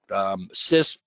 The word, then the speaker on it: CISSP: pronouncing acronyms correctly, but CISP is what most people will call it. CISP will get you in the door anywhere. It's probably the #1 highest regarded certification out there, although CISP will not really give